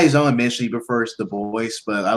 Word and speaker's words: Du Bois: It's not Dubois, it's Du Bois.